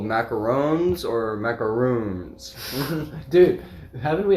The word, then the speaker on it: macaron: I've actually always said macarons. Macarons. Macaron. I think that actually sounds the most accurate because that's how it's spelled, macaron. Yeah. Yeah. I think just the French way of saying it is macaron.